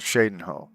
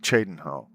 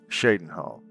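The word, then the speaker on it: Cheydinhal: a town called Shadenhole, but other people call it Chadenho. Other people in the game call it Chadenho. They don't know how to pronounce Shadenhole, or they don't know how to pronounce the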